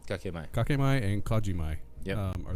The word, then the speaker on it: kakemai: K-A-K-E? Is that, am I pronouncing that right? Kikmai. Those are the K-A-K-E is kake. Kakemai. Kakemai.